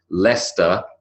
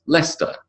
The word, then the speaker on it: Leicester: We talked about how confusing it can be when a word like Leicester, L-E-I-C-E-S-T-E-R, which is a place, is pronounced Leicester and not Leicester.